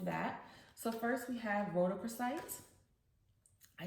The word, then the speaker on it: rhodochrosite: So first we have rhodochrosite.